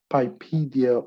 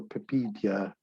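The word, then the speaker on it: PIPEDA: protection and electronic document act pipedia or pipedia depends how you pronounce it it is established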